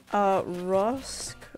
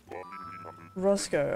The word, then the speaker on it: Roscoe: Rosk, or like Roske or something? Roscoe, okay, yeah, it's Roscoe. I think it's pronounced Roscoe. He is a villager I really like, but he is definitely not a dreamy.